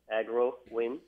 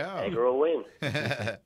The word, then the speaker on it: AgroWin: So agro, as from agronomic, and win, like a winner, So we call it an agronomical winner. There you go. Agro win.